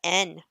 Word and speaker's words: yen: it's actually pronounced as N. Huh. It's like that's how it is in like Japanese. It's like N. It's like the Y isn't like even pronounced. It's just N.